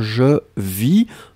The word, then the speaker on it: vis: VIS, nous sommes d'accord, je vis, hein, on ne prononce pas le S final.